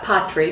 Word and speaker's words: Patrie: which is it uh patri because it's french it's a french name and that that that